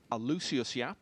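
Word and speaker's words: Aloysius Yap: It's a clash of the runners-up from the two biggest events of last year, Omar Al-Shaheen and Alucius Yap, as I think we've now clarified it's pronounced.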